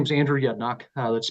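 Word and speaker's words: Yedinak: you let's go on to miss yep Mr yednak welcome morning can you hear me okay yes sir morning chairman distinguish legislators my name is Andrew yednock that's spelled ye d i n AK and I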